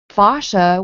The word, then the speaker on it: fascia: why they do that because it's pronounced so many different ways. And Fascia, no, well, I fascia.